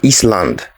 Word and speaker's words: island: The next one, this is not Iceland or Island. The S is silent, so it is island.